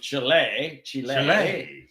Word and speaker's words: Chile: Patagonia that we hiked in is on the southernmost southern tip of Chile, which is how they say it in Spanish. We call it Chile, but I have to